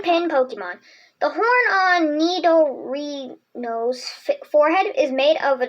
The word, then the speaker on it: Nidorino: The horn on Nidorino's forehead is made of an extremely hard substance, which, when challenged, its body bristles with poison barbs. How to say it? Nidorino.